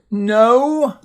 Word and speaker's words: know: And the K is silent.